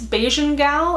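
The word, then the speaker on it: Bajan Gal: pronounce this Beijing gal I believe you pronounce the the J in here and like Caribbean because it's confusing as my boyfriend is serbian and their j's are wise so it would be like beggin gal but i'm pretty sure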